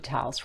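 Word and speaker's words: L'Hôpital: going to learn about lal's rule actually I need to just correct that there should be that little um symbol above the o to get the pronunciation of Lal um because I don't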